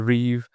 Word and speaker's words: Reeve: People say Reeves, but it's actually Reeve.